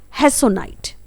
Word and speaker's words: hessonite: गोमेद को इंग्लिश में बोला जाता है हेसोनाइट। स्पेलिंग होती है HESSONITE।